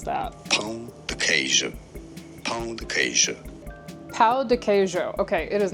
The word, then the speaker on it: Pão de queijo: Pa dejo. The J in it kind of does like kind of similar to how a French J I guess would be pronounced. Pa dejo.